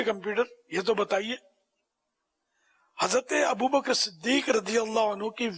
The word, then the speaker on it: ابو بکر: اچھا یہ عام طور پر ایک غلط تلفظ بولا جاتا ہے، یہاں ابو بکر بولتے ہیں، ابو بکر نہیں ہے، کاف ساکن ہے. ابو بکر، ابو بکر صدیق، ابو بکر صدیق بولیں گے تو غلط ہو جاتا ہے.